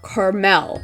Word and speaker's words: caramel: Another dessert-based villager, we have Carmen, whose name is a rework of caramel, or Carmel, as many people pronounce it.